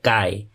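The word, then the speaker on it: χ: Dengan ini ya, chi, ini bacanya chi.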